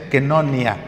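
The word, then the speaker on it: koinonía: Se escribe coinonía en griego, pero se pronuncia kenonia.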